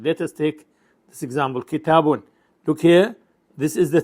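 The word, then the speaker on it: كتابٌ: Though written as a double vowel, it is pronounced as a short vowel followed by quiescent noon. This is crucial for scansion. Let us take this example. Kitabun.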